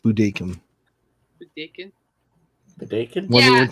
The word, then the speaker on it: Budokan: Budokan is what we used to say, but I heard it's actually pronounced Budokan.